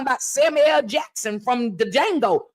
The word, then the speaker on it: Django: Samuel Jackson from the Django the D is silent so it's just D Jango but in the meantime